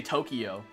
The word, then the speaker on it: Tokyo: People can't say Tokyo. They say Tokyo. Like, oh, I went to Tokyo. Like, it's Tokyo. You're adding an extra syllable that isn't there.